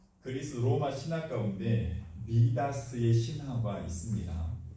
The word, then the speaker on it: 미다스: 그리스 로마 신화 가운데 미다스의 신화가 있습니다. 미다스, 그러니까 영어식으로 발음을 하면 마이다스지요.